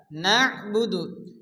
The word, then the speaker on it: نعبد: ইয়াকা, ইয়াকা না'বুদু, এখানে নুন এবং আইন একসঙ্গে সংযুক্ত ভালো করে উচ্চারণ পড়তে হবে।